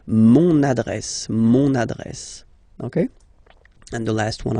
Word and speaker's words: mon adresse: address, mon adresse, okay, you can hear now this little link, so you've got to pronounce this N, mon adresse, okay, and the last